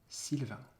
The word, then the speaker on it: Sylvain: in that first name, this French first name is pronounced Sylvain, Sylvain.